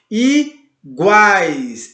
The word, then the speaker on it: iguais: Iguais, iguá. Olha como o A ele sai mais forte, ele sai mais potente, mais presente.